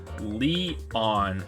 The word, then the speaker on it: Leon: say I said yesterday my name is pronounced Leon huh that's a weird name